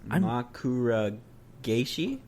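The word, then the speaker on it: 枕返し: In Japanese, it's pronounced Makura Geishi.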